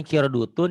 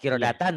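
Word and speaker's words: قِرَدَةً: ya itu ini Kirdun Tapi bapak tadi bacanya Salah tadi Bapak Bacanya apa ya bukan Bu tadi Bapak bacanya kirodutun Ya apa tuh tadi bapak Salah bacanya kiratan gitu Heeh yang Ben yang betul itu bapak boleh enggak percaya ya Nanti bapak dengarin Bapak tadi bacanya kirutan Kir apa pokoknya mah enggak qirodatan aja gitu ya Heeh qirodatan KH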